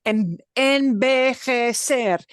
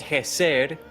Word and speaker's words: envejecer: And envejecer. That's a lot of syllables. Okay. Plus, they've got those J sounds, which are like a throaty H.